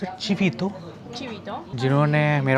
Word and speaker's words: chivito: How do you pronounce it? Chivito? Chivito The person who took my order She knew